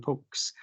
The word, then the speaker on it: POCS: So the arcane pronunciations poka, pokma, pokes.